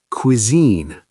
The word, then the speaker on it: cuisine: The au sounds like uh cuisine. Quine. Two syllables, stress on the second.